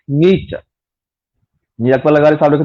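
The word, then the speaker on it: Nietzsche: त नीचे पढ़ंदासीं, पर पाण वटि मक़बूल आहे नक्शे, एक्चुअली जो प्रोनाउंसिएशन आहे उहा आहे फ्रीडरिक नीचे।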